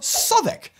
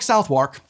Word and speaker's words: Southwark: Market in it's actually in the burah of soic yet again this is one where I've never actually had a problem with this one too much which is surprising when I look at it because I'm like it does look like southwark but another Pro tip